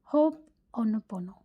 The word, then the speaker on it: Ho'oponopono: The correct pronunciation is Hooponopono.